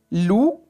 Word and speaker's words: loup: Loup. Oui. On voit la lettre P et on n'entend pas le son P.